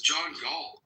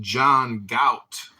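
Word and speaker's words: John Galt: Who Who is John G? I think you're pronouncing it wrong. It's pronounced John Gout.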